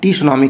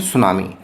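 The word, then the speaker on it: tsunami: ए सुनामी यहां देखिए सुनामी की स्पेलिंग है टी से शुरू हो रही है लेकिन यहां टी साइलेंट है इसलिए इसको टी सुनामी की जगह बोलते हैं सुनामी ए सुनामी इज ए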